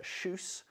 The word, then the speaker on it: Kjus: or not have seen most people can't pronounce it's called Uh shoes and it's named after